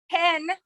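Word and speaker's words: הן: So hen, the word for they, sounds literally like the English word hen, like a hen.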